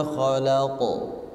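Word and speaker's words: خلق: khalaq Min syarri Ma khalaq oke syarinya ditekan terus rnya dibaca tipis atau tebal tipis tipis Jangan dibaca tebal karena harakatnya kasrh minyar Ma khalaq bukan dibaca khalaqo khaqo tapi ada hentakan khaq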